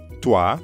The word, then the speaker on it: toi: friends the first was tua that's the informal way of saying vous or you yup tua like at the beginning of toilette we also learned salut